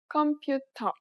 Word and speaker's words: 컴퓨터: It sounds similar to its English counterpart, but there are important differences. If you pronounced it like you would in English, it would be hard to understand.